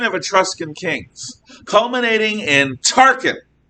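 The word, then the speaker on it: Tarquin: etruscan kings culminating in tarkin yes turken like the grand muff who ran the death star in star wars uh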